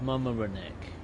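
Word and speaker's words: Mamaroneck: So, it's mama reneck.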